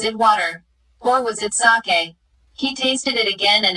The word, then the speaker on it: sake: cracks narrow gaps opening sake a popular Japanese drink saw is pronounced like bah in father and Kay rhymes with expensive costly being his way